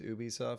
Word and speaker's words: Ubisoft: you go Ubisoft er Ubisoft well the correct pronunciation is Ubisoft so I try and pronounce Adobe soft hmm